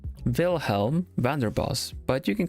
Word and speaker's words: Vilhelm Vanderbos: How do you pronounce your name? Vilhelm Vanderbos. Vilhelm Vanderbos. Vilhelm Vanderbos.